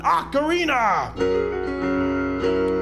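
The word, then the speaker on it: ocarina: and for the last time it's called an acarina but just to drive the home it's Ganon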